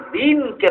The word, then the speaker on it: দ্বীন: বাংলা দ্বীন শব্দের উচ্চারণটার মধ্যে একটু, এটা হলো হ্রস্ব ইকার দিয়া, আর আরবি দ্বীন শব্দটা হইল দীর্ঘ ইকার দিয়া। হ্রস্ব ইকারে আর দীর্ঘ ইকারে যে ব্যবধান বাংলা দ্বীনের উচ্চারণে আর আরবি দ্বীনের উচ্চারণে, সেই ব্যবধান। বাংলা দ্বীনটা বলা হয় দ্বীন, আর আরবি দ্বীনটাকে বলা হয় দ্বীন, যেহেতু দীর্ঘ ইকার।